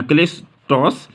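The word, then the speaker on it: κλειστός: ये ग्रीक से लिए गए हैं और ग्रीक में जैसे क्लाइस्टो की अगर हम बात करें तो इसको इस तरह से प्रोनाउंस किया जाता है क्लेस्टोस, और क्लेस्टोस का मतलब हुआ क्लोज्ड।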